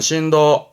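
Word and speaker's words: 震度: 거죠 그렇죠 진도 지진의 정도를 말하는 진도 바르면 신도 신도 진원지가 되겠네요 신지 치 진 제자입니다 그래서 발음이 신사이 신사이 신 사이는 뭐냐면 지진 제해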